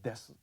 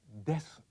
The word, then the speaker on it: です: Spelled desu, but pronounced des. Actually, when Japanese are speaking slowly or emphatically like this, they would say desu. But when they're speaking normally, the U sound is so weak, it tends to get lost.